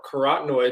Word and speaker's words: carotenoid: compound called catenoids and it sounds like the word carrot and it's just the carrot or carotenoid oids is is a